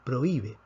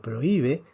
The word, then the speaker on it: prohíbe: está así esta palabra se debe pronunciar en tres sílabas pro y be entonces prohibido no necesita acento pero prohíbe si necesita acento aquí